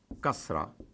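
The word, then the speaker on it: كسرة: I, the equivalent of it in Arabic is kasra, kasra. Now, it is as if I already think that you already know it, the use of zabar. So I put a vowel above ka, and it is kasra.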